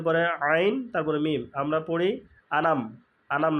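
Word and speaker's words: أنعمت: আলাইহিম তা আলাইহিম এই আনাম আনাম হয়ে যায় আনাম আনাম না আন আমের একটু থামবো আইন দিয়ে লিখে চেপে আম প্রথমটা আলিফ বা হামজা উচ্চারণ আন তারপরে তারপর আইনের উচ্চারণ এই জায়গাটা সবচেয়ে বেশি ভুল হয় আলাইহিম তাহলে যদি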